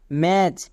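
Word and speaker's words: match: এ টি সি এইচ ম্যাচ মনে থাকবে শব্দের শেষে যদি চো থাকে তার জন্য আমরা টি সি এইচ ইউজ করবো এখানে টি সাইলেন্ট একই রকম ভাবে বি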